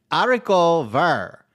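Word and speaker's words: haricots verts: and it's actually pronounced AR the H the T and the s's are silent thank you that's how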